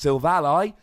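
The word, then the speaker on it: Silvally: lie and I assure you it is definitely pronounced Silve a lie he's your ally got a bit of arguments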